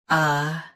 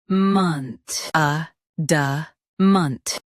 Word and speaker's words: adamant: Both US and UK have the same pronunciation of this word. Stress a. Keep da and munt soft. ADAMANT. ADAMANT.